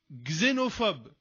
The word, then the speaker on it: xénophobe: Le X, je le prononce Z. Xénophobe.